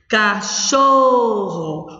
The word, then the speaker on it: cachorro: Cachorro, o xó. É a sílaba tônica.